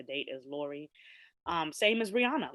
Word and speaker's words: Rihanna: She pronounces her name Rihanna. We are Caribbean people. We must speak properly. That's as good as my patois will be. Jamaicans is gonna call her Rihanna, whatever the hell it's gonna be.